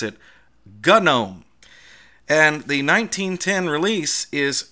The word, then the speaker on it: GNOME: the main boom to version which runs gnome GN om e in the US Canada and the UK and